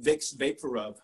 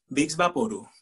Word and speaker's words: Vicks VapoRub: talking about here now you might think that this is pronounced vicks vaporub but no no it is big okay let me see